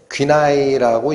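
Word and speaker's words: γύναι: 여러분 이 여자여라는 단어가 헬라어로 귀나이라고 읽히는 단어입니다.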